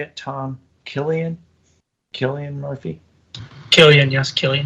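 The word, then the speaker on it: Cillian: do you say it Tom Killian Killian Murphy Killian yes Killian kilan it's a hard I would he's such I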